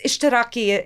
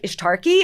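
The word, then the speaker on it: اشتراكي: Like I would pronounce like it's Ishtiraki Ishtiraki is socialist, right? So I would I wouldn't know how it was pronounced, so I'd call it like Ishtarki and people My friends would look at me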